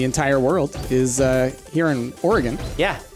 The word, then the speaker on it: Oregon: of Oregon oh my gosh oh god it's pronounced Oregon not Oregon not Oh Reagan yeah I was listening to a podcast a